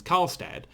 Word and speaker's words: Karlstad: build a station in I mean I can pronounce it it's karlstad but building a station here whole different kettle